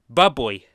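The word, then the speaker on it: bubly: customer and a convenience store clerk who properly pronounced it as Bubbly.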